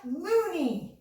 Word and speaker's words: loonie: give you a hint it rhymes with toonie that's right it's a loonie amazing job let's move